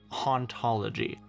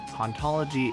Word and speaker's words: hauntology: In the original French, it's a pun, because it sounds like the word for ontology, ontologie, whereas in English, it sounds like you're no fun at parties.